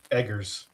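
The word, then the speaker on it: Eggers: Edgars. Robert. Like you do like you're you're an egger. You do eggs.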